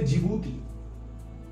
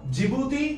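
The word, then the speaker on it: Djibouti: हम लोग नाम बोलते जिबूती देखिए नाम स्टार्ट हो रहा डी से लेकिन डी साइलेंट है या डी जिबूती मत बोलिएगा जिबूती बोलिएगा जिबूती डी साइलेंट ओके य पर कंट्री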